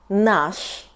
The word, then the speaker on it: наш: In masculine variant — "наш" .